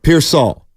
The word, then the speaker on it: Pearsall: should be pronounced and if it's Pier Saul then it's Pier Saul